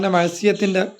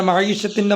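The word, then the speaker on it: معيشة: അപ്പൊ ടാപ്പുകളുടെ വ്യാപാമായിട്ടുള്ളത് ഏതാവട്ടെ മറ്റൊന്ന് മഹീഷത്ത് അഥവാ മഹ്സിയത്തിന്റെ മാർഗമല്ലേ എന്ന് പറയും മഹീഷത്ത് ജീവിതം മഹ്സിയത്ത് എന്ന് പറഞ്ഞാൽ ദോഷമാണ് അവന്റെ മഹീഷത്തിന്റെ മാർഗം അല്ലേ അവന്റെ ജീവിതോപാധി അല്ലേ അതിന് മഹ്സിയത്ത് മഹ്സിയത്ത് രണ്ടാളുകൾ സത്യത്തിൽ മഹീഷത്ത് എന്നാണ് പറയേണ്ടത് മറ്റൊന്ന് വ്യാപകമായിട്ട് ഹൈർ നൽകട്ടെ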